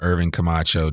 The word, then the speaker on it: Irvin Camacho: but without further Ado I want to welcome Irving kamacho to the I am Northwest Arkansas podcast how